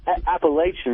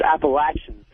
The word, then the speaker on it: Appalachian: Yeah, I want to talk to Patrice about him cracking on Appalachian State. And it's not Appalachian, it's Appalachian.